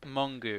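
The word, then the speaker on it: Mongeau: Mongu. That's how you pronounce.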